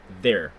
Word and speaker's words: there: Were there. There. Просто where. TH, да, оно читается как Z.